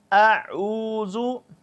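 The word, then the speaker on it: أعوذ: لمبا کر لیتے ہیں، زبر زیر پیش کو بالکل لمبا نہیں کرتے۔ اعوذ، اعوذ، مشق کیجئے، اس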